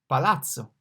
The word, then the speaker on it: palazzo: P, palazzo. The P is pronounced like P in English. Indeed, it's pronounced like P in person, palazzo.